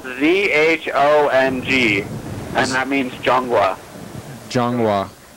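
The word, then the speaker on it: 中: The J sound is a ZH, so it's spelled ZHONG, and that means Zhonghua. Zhonghua. Well, I mean the ZHONG GOU, so Zhonghua. But Zhong is ZHONG, which sounds like JONG, but that's different in China.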